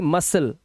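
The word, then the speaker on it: muscle: है fluorescent fluorescent मतलब प्रति दीप ऐसे ही मसल मसल के अंदर सी साइलेंट मांसपेशियां होती है हमारी बॉडी की ठीक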